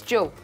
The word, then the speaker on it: Job: I do believe it's pronounced Job. It's Job.